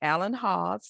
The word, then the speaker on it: Alan Hawes: So I have with me this morning Alan Hawes. Did I pronounce that correctly?